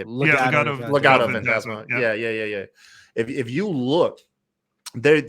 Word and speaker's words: Legado Fantasma: If you look, El Gato Fantasma, or I'm sorry, how do you say it? Legado Fantasma.